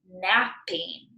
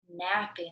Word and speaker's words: napping: But when we say it, it sounds like one P, right?